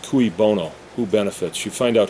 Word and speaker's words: cui bono: I believe it's pronounced cui bono.